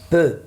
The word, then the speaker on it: peu: I say it like letter E in French, we say it So, un peu.